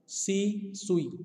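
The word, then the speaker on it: C. Tsui: दूसरा है F Skoog के साथ ही है सी सुई, यहाँ पे टी साइलेंट रहेगा, सी सुई 1948।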